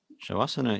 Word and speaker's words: Shavasana: Shavasana is pronounced exactly with the sound Sha. There is no sound Sa in it.